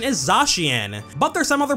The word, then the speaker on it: Zacian: The most popular alternative, at least as far as I'm aware, is Zacian, which does make sense as well. That's how A-C-I-A is pronounced in words like facial or racial, and it's also similar to words like acacia or emaciate.